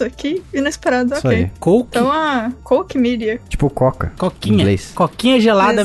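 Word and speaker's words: Koch Media: como diz o nome eu vou chamar de coach media Porque sim pera aí acabei de rapidamente encontrei um vídeo aqui Como se pronuncia ah ok então agora a gente sabe olha só ao vivo aqui Jason vai revelar vai revelar Mister Mag exatamente coke media coke media nossa isso aqui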